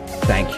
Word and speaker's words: thank: La prononciation du TH se fait en plaçant la langue entre les dents.